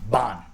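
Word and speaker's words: Bähn: Bon.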